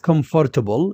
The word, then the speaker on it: comfortable: This word is not comfortable. There is no word in English that is comfortable. No. Nope. You can check the dictionary. We read it as comfortable.